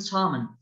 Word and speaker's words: salmon: And talking, walking, and salmon. Here we've learned how to pronounce the letter L. The pronunciation of L here.